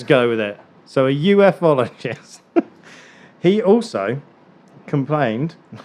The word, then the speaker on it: ufologist: saying about earlier about ufologists. I keep saying UFologists. I call them UFologists. I'm probably going to get slated by everybody that watches it because it's supposed to be pronounced ufologist.